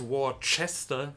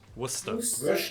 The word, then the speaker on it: Worcester: what i was trying there's no h because of the it is not war chester it's worst so it's waste worcester worcestershire worcestershire maybe maybe